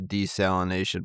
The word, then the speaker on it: desalination: Gulf Coast uh countries, the word is desalination and not desalinization. But, apparently, both pronunciations are acceptable. So, um They're both acceptable. Okay. Uh if you want to throw a couple extra syllables in there, uh desalinization will work.